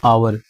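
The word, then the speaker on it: hour: एन आवर आया है, तो इसमें जो एच है आपका यहाँ पे ये साइलेंट है, ओ से आपका यहाँ पे साउंड बन रहा है, यानी एन आवर।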